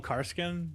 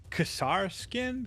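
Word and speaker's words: Kasrkin: pronounce those guys name I used to call him carskin but it's casar skin because kasarakin I said I learned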